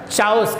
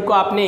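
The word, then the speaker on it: chaos: maximum student इसको चास पढ़ने हैं है ना चास कभी ना कभी ये शब्द को आपने इंग्लिश में पढ़ा होगा कभी ना कभी इस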